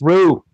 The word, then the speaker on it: Ryu: In Japan, Ryu is pronounced Ru. Ryu.